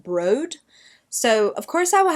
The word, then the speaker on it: Broad: to say this as broad. It's b r o a d, but someone commented on my channel one time and said it's actually meant to be pronounced brode.